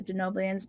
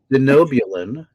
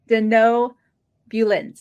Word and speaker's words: Denobulan: one was how do you feel about the denans being in both animated series so you were first have to correct your pronunciation let's go back to so sorry denobulan denan oh this is my favorite thing to